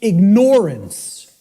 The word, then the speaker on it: ignorance: pronounced i tell people start pronouncing it ignorance ignorance then people will hear the word ignore in it and and the